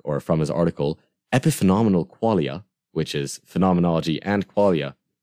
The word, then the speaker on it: qualia: Well, it's essentially the study of experience, or the study of qualia. Qualia. So that's three syllables, right?